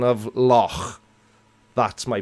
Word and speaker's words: loch: Somebody's asking me what's my pronunciation of loch. That's my pronunciation. Because in the Welsh language, CH together is like you're clearing your throat. So yeah, I was going to say, CH Loch together Ness is like phlegm.